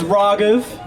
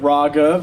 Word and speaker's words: Raaghav: Yeah, my name is Raaghav. It is pronounced Ra, like ramen, and then Gov, like government, Raaghav.